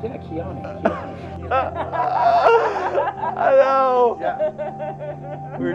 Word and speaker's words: Kyani: very beginning, you go, I learned how to pronounce this, Kiani. And then at the end, you're like, yeah, Kiani.